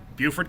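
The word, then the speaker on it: Beaufort: is Buford in umy Buford County how do you spell it b e a u f f o r t b e a u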